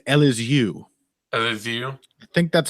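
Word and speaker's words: Elizeu: nicolau I think it's L is you I think that's how you pronounce that little phoneme in in Brazilian Portuguese yeah that could be I'm never gonna try I think it's LSU Zaleski dos Santos I love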